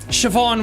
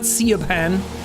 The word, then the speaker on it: Siobhan: Siobhan Williams. That's how you pronounce that name, by the way. It's Irish. It's not Siobhan.